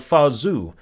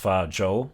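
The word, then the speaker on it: Fa Zhou: am ping son of fazu which is actually supposed to be pronounced fajo based on a Chinese pronunciation I looked up so ping has already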